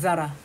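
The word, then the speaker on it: Zara: Z 발음 잘해야죠. 자라. S&M.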